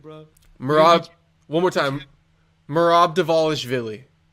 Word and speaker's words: Merab Dvalishvili: Merab Dvalishvili. Merab Dvalishvili.